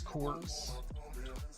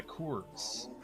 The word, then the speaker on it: Coors: It's corors. Do people say corors because they don't know how to read? It's a Kors light or Kors, whatever.